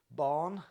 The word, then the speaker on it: Bán: Pangur Bán, pronounced Bán like fawn, is the white cat that you see on the bottle, and he's the master of his art, or the happy hunter.